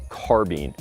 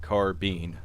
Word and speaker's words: carbine: in the m1 carbine which is an old gun it's been around